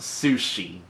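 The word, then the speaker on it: Sucy: Her name is pronounced Sushi.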